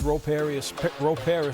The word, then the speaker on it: Ro Parrish: Ro Parrish, that's my name. That's how you say it correctly.